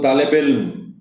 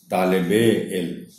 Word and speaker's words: طالب علم: طالب علم، ویسے تو اس کو طالب علم روانی میں پڑھ دیا جاتا ہے، مگر صحیح تلفظ اس لفظ کا ہے طالب علم. چونکہ مرکب لفظ ہے، بے کے نیچے زیر کو سنا جانا چاہیے.